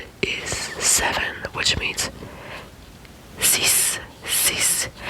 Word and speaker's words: six: It means sis sis. You pronounce the x like an s because you you you